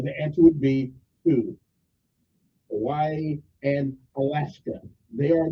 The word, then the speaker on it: Hawaii: are Alaska and not Hawaii we pronounce over there I'm an honorary Hawaiian we pronounce w like a V I like it okay